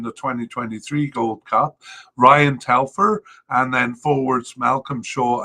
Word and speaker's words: Telfer: Two candidates at the possible level, but we've already said Ryan Telfer, sorry, I've been pronouncing his name wrong. Ryan Telfer just making the preliminary squad there.